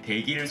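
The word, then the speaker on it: 大吉: 신사 에서 오미쿠지 를 뽑아 운세 를 확인 하는 모습 에서 가장 먼저 눈 에 띄는 것 은 " 다이키치 ", " 쇼키치 ", " 추 키치 ", " 키치 " 와 같은 운세 입니다 .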